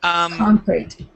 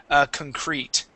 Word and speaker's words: concrete: Concrete. Yeah. So we want to pronounce this with the accent at the beginning instead of concrete. Okay. It is concrete.